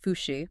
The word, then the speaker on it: Fouché: That's the expertise shared by Ben Fouche, pronounced Fouché, by the way.